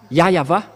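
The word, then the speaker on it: Yahweh: ici chez les Orientaux il prononce vraiment le W par un V ou par un B c'est ici qu'on voit clairement que le W est bien un V mais ce sont les Occidentaux qui l'ont changé en ou mais pour les Orientaux ils prononc bien le le W en tant que V mais c'est le V qui est vraiment la bonne prononciation et c'est pourquoi ils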